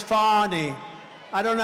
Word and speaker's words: Fani: been destroyed because of Fannie fa N I fan. You have to pronounce it. Fannie, it's called Fannie. You have to pronounce Fanny.